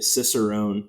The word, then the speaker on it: cicerone: does it mean to be a cicerone if i if i'm even saying that correctly no you did you did say it correctly okay um so for